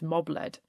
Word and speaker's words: Mab-led: by a will-o'-the-wisp, and John Brand even makes a point that it's actually pronounced mob-led.